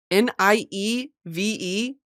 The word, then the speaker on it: nieve: So like if the word is nieve, Nieve, which means snow, the two final vowels are both E's, right? But you would pronounce it nieve.